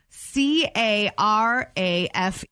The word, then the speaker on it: carafe: what is a corral rhymes with giraffes spell it c-a-r-a-f-e is it something the